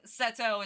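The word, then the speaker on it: Seto: I literally called him after the god Seth and Setto is like it's Japanese pronunciation of Seth.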